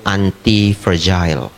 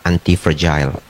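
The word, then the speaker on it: antifragile: tapi ini sangat damai yaitu antipergil ya nulisnya anti fragile fragile pronounce-nya yang benar adalah antipergil kalau bapak ibu kadang-kadang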